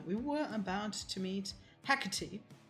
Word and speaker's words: Hecate: And we were about to meet Hecate, which is weird for me to pronounce because in German or anything similar would be Hecate, which now that I think about it sounds worse. But it's what I was used to.